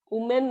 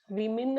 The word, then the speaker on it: women: WOMEN, ఉమెన్ అంటాం, కానీ అది రాంగ్ ప్రొనౌన్సియేషన్. దాన్ని విమిన్ అని ప్రొనౌన్స్ చేయాలి.